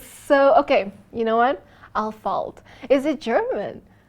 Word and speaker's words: Ahlfeldt: Alpha Dad. Alpha Dad. It's Al. But it's a running joke. It's all right. Al, you know the pronunciation is so Okay. You know what? Al falt.